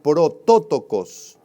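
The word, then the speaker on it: πρωτότοκος: Esta palabra primogénito proviene de la palabra griega protótokos, con acento en la O.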